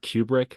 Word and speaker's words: Kubrick: Apparently it's pronounced Kubrick, but if I say that, I'm gonna get beat up.